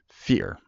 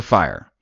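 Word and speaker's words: Fier: I always get his I always mispronounce his name fear there's a fear fire it's fire is one of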